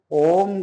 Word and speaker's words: ओम: सांस लेकर के आपको ओम का उच्चारण करना है ओम का उच्चारण आप इस तरह से करिए कि आप क्योंकि ओम में तीन लेटर होते हैं माना गया है आ उ और म तो हमें छोटा बोलना